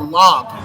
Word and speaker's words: Laag: Is that talk back and forth with I shouldn't say Draai Lagg anymore. It's Draai Lagg. What is it? How's it? Log. Yeah. But I've been saying it wrong the whole time, so kick me in the nuts.